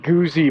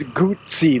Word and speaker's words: Guzzi: It's not Guzzi, by the way. It's Guzzi, like pizza. 2 Z's are pronounced as a T.